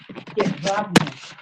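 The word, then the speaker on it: Jedwabne: Yadvabne.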